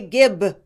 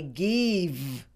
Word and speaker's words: give: Some people say gib. Some say kiv, and some say give.